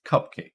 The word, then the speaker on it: cupcake: So in one, is it cupcake or cupcake? Well, it's cupcake, stress on the first syllable.